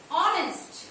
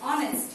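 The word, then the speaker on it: honest: কিন্তু আমরা যখন বলবো অনেস্ট, দেখো লিখছি আমরা এইচ দিয়ে, এইচ ও এন ই এস টি, অনেস্ট, কিন্তু এর উচ্চারণ হচ্ছে ও এর মতো, যেহেতু ভাওয়েলের মতো উচ্চারণ হয়েছে তাহলে এর পূর্বে এন বসবে।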